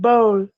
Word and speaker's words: bowl: No, it's not. It's similar, but it's not the same pronunciation. Okay. Remember there in bowl, there's the letter W.